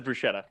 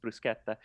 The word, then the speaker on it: bruschetta: a deal but um when people say bruschetta everybody says bruschetta yeah um yeah no because that's how it would be pronounced in english um or in you know german or anything that that sch but in italian it's brusqueta um so that's always